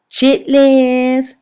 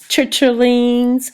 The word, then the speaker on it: chitterlings: Chitlins, chitterlings, however you want to pronounce it.